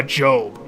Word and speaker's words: Job: It's almost like it's someone cursing their job as a person who, Job. It's pronounced Job, you're right.